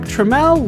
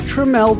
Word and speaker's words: Tramiel: Jack Tramiel would found a new company in 1984, Tramiel Technology. This new company was spelled differently to try to get people to pronounce Tramiel's last name properly.